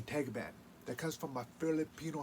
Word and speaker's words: Tagaban: i'm cherokee and filipino and my last name tag man that comes from my filipino heritage how you pronounce it the goblin my grandfather comes from bandark and my great